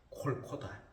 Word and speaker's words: 골고다: 되고 영어의 갈보리가 됐다 히브리의 원래의 발음은 콜코다 골고다라고 하는 우리말로 번역을